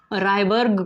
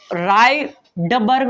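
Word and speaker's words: Rydberg: अब देखिए अगला 3 हुआ था ना, 4 रायबर्ग कांस्टेंट, इसको रायडबर्ग मत पढ़ना, डी साइलेंट होता है यहाँ पे।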